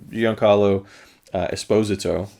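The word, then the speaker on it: Giancarlo Esposito: his face you know young carlo esposito that's how you're supposed to say his name actually is um fantastic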